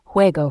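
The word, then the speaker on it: juego: example Ola for hello J is usually pronounced as a strong H sound like the H in hot or hat for example huego for game L is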